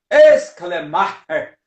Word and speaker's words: Schleiermacher: Muito bem, ele nasce, o Friedrich, vamos pronunciar, aprender a pronunciar o nome, não é? De uma forma germânica. Friedrich Ernst Schleiermacher, né? Só que esse Schleiermacher, esse aí você até dá uma puxada aqui no esôfago, perigoso até se engasgar, né?